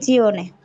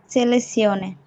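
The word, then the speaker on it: selezione: ছেলে জিওনে জিওনে না এখানে সিওনে হবে আমরা আজকে একটা উচ্চারণ দেখেছি না যে যদি কোন শব্দের শেষে আনসাই সিয়ারে সিওনে থাকে তাহলে এস অক্ষরের উচ্চারণ সরি জেতা অক্ষরের উচ্চারণ ছ এর মত হবে তো এটা কিন্তু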